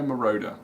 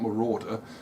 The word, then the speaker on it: Moroder: together electric dreams by Philip Oakey and Giorgio Moroder on Mirada moreover it's not Marauder they go right question for 10 my mother-in-law